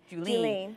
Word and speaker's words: Julien: And I said your name wrong. It's Julien.